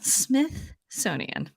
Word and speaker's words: Smithsonian: I put a little th in there the first time I said it. The It made me think that maybe Smithsonian. I had been mispronouncing it this entire time. Smithsonian. You gotta I was like, get two ths in there.